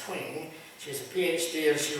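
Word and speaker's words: Twenge: I believe her last name is pronounced Twing.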